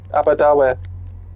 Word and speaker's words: Aberdour: Aberdour. Don't forget to take your belongings with you before. That's how you pronounce it, not Aberdour.